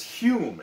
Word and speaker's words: Home: skeptical uh daniel douglas hume it's pretty it's it's spelled home but pronounced like david hume the philosopher was a medium who